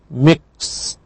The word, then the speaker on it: mixed: Past tense with ed is pronounced mixed. Mixed. So you should know that this would be this one. T.